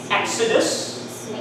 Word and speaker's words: exodus: exceptions to the rule they start with ex followed by the vowel sound but they they do not they are not pronounced with g z they they're just x see execute we don't